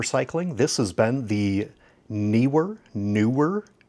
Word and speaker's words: Neewer: with accounting for cycling this has been the newer newer N I believe it's either newer because of the two e or newer which is probably correct it seems to be